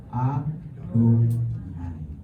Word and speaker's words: YHWH: Jadi ketika kita ketemu kata YHWH, jangan lagi baca YHWH, bacalah Adonai, ya, supaya kita lebih terbiasa.